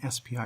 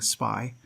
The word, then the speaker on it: SPI: definition of what an spi really is first of all you've noticed that i'm pronouncing this spi rather than saying spy i recommend you use spi instead of spy and the reason for